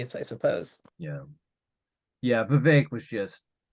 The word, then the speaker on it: Vivek: while because I apologize, Vivek. I thought you were the villain in the game Morrowind, so Hey, he told you in his rap that Vivek rhymes with cake.